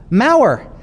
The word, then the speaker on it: Maurer: believe it's m-a-u pardon maurer excellent excellent i i was just gonna spell it um i believe it's m-a-u-r-e-r is that correct yes so wonderful wonderful book on